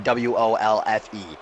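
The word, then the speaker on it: Wolfe: Because Kendall spelled his last name W-O-L-F-E. All right, okay, Josh is but we're W-O-L. talking Even about I know that. pronouncing. It's both pronounced Wolf, you idiot.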